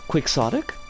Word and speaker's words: quixotic: not particularly largely used adjective quixotic which comes from kyoten but is pronounced quixotic so like you're not